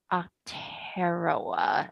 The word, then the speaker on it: Aotearoa: And the Maori name for New Zealand before it was settled was, it's spelled Aotearoa. And Okay. that is pronounced Aotearoa, it looks like.